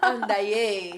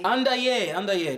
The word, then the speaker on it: Andayé: It rhymes with Annabay. What? Andayé. Andayé.